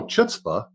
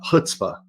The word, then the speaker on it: chutzpah: there's a c in it and go oh chitah but then uh Michael was kind enough to correct me on that and uh hutzpah is I guess would be my effort at